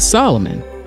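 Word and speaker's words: Soloman: his name solo man it was pronounced to Solomon but spelled like solo man and she'd never seen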